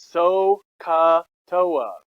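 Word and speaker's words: SOHCAHTOA: toa is toa so the way you say it is so katoa okay there's no use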